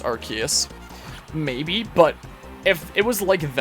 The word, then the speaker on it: Arceus: As I like to say it, I know the proper pronunciation is Arceus.